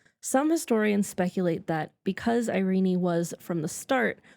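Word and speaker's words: Irene: In England, Irenie was pronounced closer to the Greek pronunciation with three syllables.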